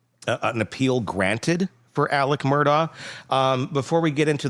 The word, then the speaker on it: Murdaugh: It's Murdoch. They were saying like Murdoch. Yeah. And and Alec does too. Alec hits the K in there. Murdoch.